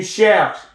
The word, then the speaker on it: cherches: Tu cherches, silent. The E is silent, ES is silent.